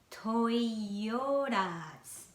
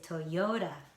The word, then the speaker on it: Toyota: Because of American way, yo has the stress, Toyo. And then this TA, American people don't pronounce T as T, but like flapped sound, ra. So I say Toyota.